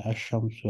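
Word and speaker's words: الشمس: फर्क यह है कमरी में लाम को पढ़ते हैं अल कमरु अल मरीदु, जबकि शमसी में लाम को नहीं पढ़ते, लाम साइलेंट होता है, अशमसु असाबुन।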